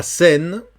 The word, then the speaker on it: Seine: La Seine, on ne prononce pas le E. E-I, tu sais que c'est E, comme si c'était un E, comme le E espagnol.